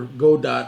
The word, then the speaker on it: Godot: And I started out with Godot because I saw a lot of, or Godot, however you want to pronounce it. But I'm going to pronounce it Godot.